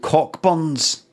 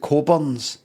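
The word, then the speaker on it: Cockburn's: There's an advert in the 80s for that booze called Cockburns, but you pronounce it Coburns.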